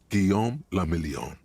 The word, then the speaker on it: Guillaume Lamillion: meant only one thing guillaume lamillion if it doesn't rhyme you're not pronouncing it right out of the dazzling